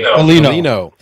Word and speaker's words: Bollino: And tonight it's Tim and I with Michael, how do you pronounce it? Bollino.